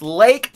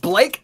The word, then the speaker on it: Lake: You know how I always have to tell people, I said, it's Lake, not Blake, not Jake, it's Lake.